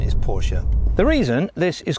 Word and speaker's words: Porsche: let out through an additional duct the correct pronunciation of this car is actually porsche not porsche even though i might refer to either in